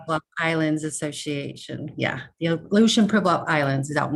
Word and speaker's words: Aleutian: It's Aleutian okay. Pribilof Islands Association. Yeah, the Aleutian Pribilof Islands is out in the Bering Sea.